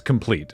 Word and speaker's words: Compleat: the complete edition I've I worry that we've said complete that way so many times that people might think that that's how it's pronounced but it's complete it's this is It's the complete edition but they spell it complete it with the EA yeah this is the